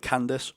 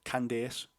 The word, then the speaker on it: Candace: like Candace it's C like in the UK you call it Candace but she pronounces it candes so yeah taper has